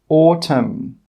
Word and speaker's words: autumn: The letter N is normally not pronounced when it's after the letter M at the end of a word. Some example words are column, autumn, solemn, condemn, hymn. In all of these words, we are not pronouncing the N.